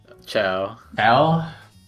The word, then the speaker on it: Chao: you pronounce those guys Chow yeah I think they call Chow although I would totally understand why you would think that pronounced KO because of the chaos chaos emerald they are named after the chaos emeralds I know well I